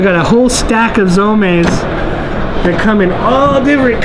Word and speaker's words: Zome: Z-O-M-E, yeah, and the E sounds a little funny, kind of like Kobe. Yeah. And so in Japan, they pronounce it that way. So if you see it in print, just know that it's not Zome, it's Zome.